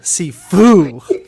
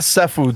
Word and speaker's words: Sifu: Not seafood, Sifu, the martial arts. It's actually My pronounced family was like- Sefu.